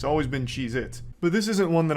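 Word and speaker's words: Cheez-It: Cheeits. And I'm still saying it wrong. Cheeits never existed. They have always been Cheeit, not plural.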